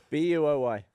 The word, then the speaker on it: buoy: How do you pronounce it? Boy. Boy. Yeah, that's weird. And someone was like, "It's pronounced buoy," and I was like, "I mean, yeah, in some places, but not everywhere."